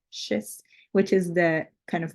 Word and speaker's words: schist: with was made from Manhattan schist I think that's how you say it schist which is the kind